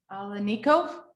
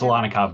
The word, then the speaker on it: Alanikov: Alanico? It's Alanikov, but thank you. Oh, sorry. That's quite all right. You're not the first one to mispronounce it, so don't worry about it.